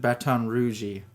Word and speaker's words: Baton Rouge: Yes, they pronounce it Baton Rouge.